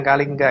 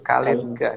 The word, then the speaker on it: Kalingga: Ya, bukan Kalingga ya. Bukan Kalingga, tapi Kalingga. Jadi dipisah. Ya, Kalin sama Ga-nya dipisah. Karena itu pengucapan dalam Sanskerta harusnya seperti itu.